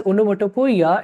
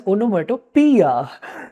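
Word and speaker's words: onomatopoeia: this figure of speech is not called as onya it is called as onomia letter O is silent here I can understand anyways you will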